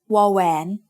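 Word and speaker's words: วอแหวน: This one is called wawän. It makes the sound W, just like the W in water.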